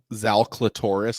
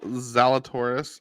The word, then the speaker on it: Zalatoris: experience to be enjoyable so yeah is Will zal Cloris gonna be golfing this year what's that will zal Cloris that's his name right will I might have pronounced it wrong will I think will will zalatoris yes he is okay good yeah he's my